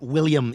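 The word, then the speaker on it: Willem: yeah I just love William Defoe it's not William it's William yeah that's what I said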